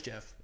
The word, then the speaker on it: Geoff: It's Jeff. Jeff Neal, it's Geoff.